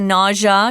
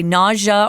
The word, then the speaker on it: nausea: She gets the nausea. You can say nausea or nausea. They're both correct pronunciations.